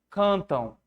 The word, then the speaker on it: cantam: Tão e cantam. O que é o ão aí, gente? Isso aqui não é um ditongo? Ele é um ditongo visual. Você visualiza o ditongo. Esse aqui é um ditongo, vamos dizer assim, implícito. Subentendido. Então aqui, ó, o mesmo som. Ó, tão, cantam. Tá vendo? Tão no final, ó.